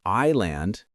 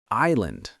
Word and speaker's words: island: And island. We don't say island, we say island. Island. Wow, so different from the spelling.